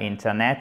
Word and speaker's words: Internet: Faites bien aussi l'accent tonique. Ce n'est pas Internet, mais c'est Internet.